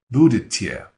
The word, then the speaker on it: будете: So the T sound at the end of the he or she form, right, that word будет, changes to a tie sound, budetye.